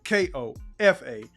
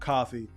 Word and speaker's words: Kofa: Once again, I've been your humble host, Kofa, K-O-F-A, not coffee, not Kufu, not Kofi, or any variation thereof. Kofa rhymes with sofa, easy to say, easy to spell.